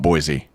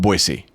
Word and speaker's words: Boise: Do you how remember, do you like say you've been to Boise, and they're like, don't call it Boise. Yeah. They're like, call it Boise.